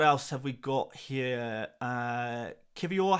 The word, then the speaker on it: Kivior: Kivior has a hard R at the end.